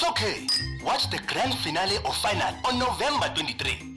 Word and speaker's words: finale: of guide to mispronunciation today's word finale origin Italian pronunciation finale meaning the last part of a series commonly means pronounced as final as if you're are discussing your metric results example I can't wait